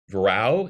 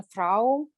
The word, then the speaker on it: Vrau: Yes, similarly to that, it's a Dutch word. Okay. So I'm also not 100% sure how to pronounce it. It's similar to the German Frau. Okay. But Dutch pronounces that beginning sound somehow between V and F.